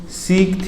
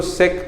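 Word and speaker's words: sec: उसके बाद आते हैं सीक थीटा पे। उसके बाद आते हैं सीक थीटा पे। कोई इसको सेक थीटा भी प्रोनाउंस करते हैं, अपने ऊपर है। मैं सीक थीटा बोलता हूँ।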